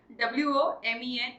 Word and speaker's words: women: Yes, WOMEN is going to be called women. So ये जो चार words है इनकी pronunciation आप देख सकते हैं, they are different from one another.